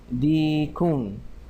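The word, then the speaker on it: ديك: You have to make sure that you pronounce this what they call this letter, this ya. It has a long hada dikun, dikun. All right, otherwise it will sound like something else, so we have to say dikun.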